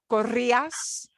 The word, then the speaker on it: corría: And all of those have accent marks because the ia we have to separate. We can't slam the e and the I and make them one sound. We punch the e sound a little bit more than the a sound.